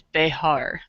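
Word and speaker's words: Behar: up it's uh the the pronunciation is bear so the the views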